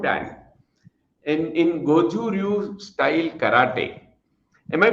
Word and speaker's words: Goju Ryu: Rakesh is expert, and you see, I would say he's a black belt 4 dan in Goju Ryu style karate. Am I pronouncing correctly, Rakesh?